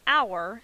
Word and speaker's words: hour: However, in the word hour, the H is silent, which means the article "an" is the correct article to use with the word hour.